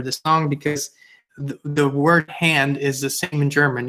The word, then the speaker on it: Hand: song because the word hand is the same in German. You just pronounce it a little different, Hand, but it's the same spelling.